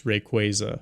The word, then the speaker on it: Rayquaza: But uh Oh, actually it's Rayquaza.